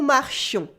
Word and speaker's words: marchions: Then we have nous marchions. Ooh, here as you noticed, the E was replaced by a yon sound with a nasal on. Nous marchions. Repeat after me. Nous marchions. The S is silent again.